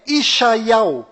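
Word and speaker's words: ישעיהו: ficou bem claro que a verdadeira pronúncia do nome de Isaías em hebraico legítimo ou em Israel é ishai ao então para ficar bem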